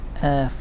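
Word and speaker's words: Erth: and saint earth and i say it's saint earth which is spelt h not the earth which is spelt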